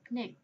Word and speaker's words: ភ្នែក: chữ cò nè ha, cho đó đọc là neck.